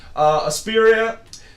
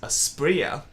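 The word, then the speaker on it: Asprilla: we had more drama a spiria scored a goal in the 93rd minute actually it's a sprayer that's how you pronounce it and you know a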